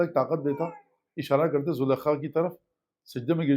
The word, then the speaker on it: زلیخا: داروں میں سے ایک بچے نے، البتہ صحیح تلفظ زلیخا ہے، لیکن آپ کہیں گے یہ کون سی